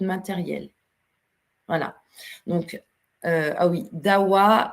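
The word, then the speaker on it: Dahua: Donc, ah oui, DAWA s'écrit D-A-H-U-A.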